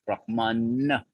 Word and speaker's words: Brahma: for the absolute truth Brahman but there's a Celestial who confusingly until until someone tells you is called Brahma with a long a not with an N he's a Celestial